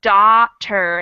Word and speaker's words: daughter: uh-huh so we have first off the spelling of those words is totally crazy because we have a silent gh in both of them but on top of that they're spelled the same and pronounced differently once again so we have doctor